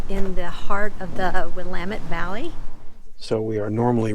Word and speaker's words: Willamette: pronounce it right cuz I was saying willamet and uh any or person from Oregon organian do you speak any English English no has uh corrected me it's a wamit valley but anyway so